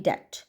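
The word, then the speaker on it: debt: रन इन to heavy डेट ठीक है बी यहां पे साइलेंट गा डेट तो जो फाइनली जो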